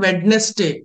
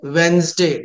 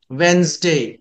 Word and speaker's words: Wednesday: It's not Wednesday. It's a Wednesday. D is a silent letter. Yes must be pronounced like Z. Wednesday.